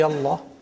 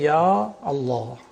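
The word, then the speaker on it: يا الله: don't omit pronounce but in one case the alif is retained is ya Allah. Ya Allah. You don't say Allah. You have to say yah Allah.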